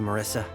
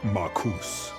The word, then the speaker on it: Marcus: Couldn't have done it without you, Marissa. My name is pronounced Marcus.